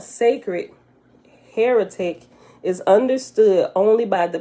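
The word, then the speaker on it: hieratic: is called sacred higher higher hierarchy hierarchic heroic i said that wrong h i e r a t i c while that which is called sacred heretic is understood only by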